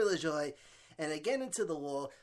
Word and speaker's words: LaJoie: When I first, all of last year I was pronouncing this kid's name wrong. Now I got it. It's Corey LaJoie.